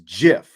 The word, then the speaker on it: GIF: you know like apparently the way it is supposed to be pronounced is Jif it was right but